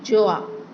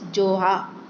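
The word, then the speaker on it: Gjøa: इसका प्रोनाउंसिएशन है जोआ। यहाँ पे देखिए, यहाँ पे इन्होंने बताया हुआ है प्रोनाउंस्ड एज जोहा।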